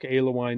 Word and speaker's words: Alewine: business partner with Alewine Music. And just so everybody knows, the name Alewine, I'm a little hesitant to say it like this, but it's the two alcoholic beverages together, ale and wine.